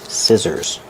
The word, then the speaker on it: scissors: Use the short I like this is scissors. The SC C makes the S sound with no voice. And the two S's in the middle make a zebra sound.